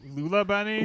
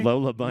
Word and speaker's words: Lola Bunny: Lula Bunny? Lola Bunny. Lola Don't you said her name wrong to try to be like you're not Oh, obsessed.